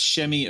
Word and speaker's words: Semi: I believe it's pronounced Shemi Ojale. Yeah. Okay. Wow. I've been calling him Semi for a long time.